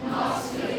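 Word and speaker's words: Knoxville: silent mute ठीक है के और एन इकट्ठा आ जाए तो के साइलेंट ये क्या मान जाएगा नॉक्स फिले नॉक्स नॉक्स फिले नॉक्सविले नॉक्सविले नॉक्सविले Tennessee Tennessee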